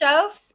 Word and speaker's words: Schoofs: pronounced your name correctly close sches but no one ever pronounces it correctly ever so it's fine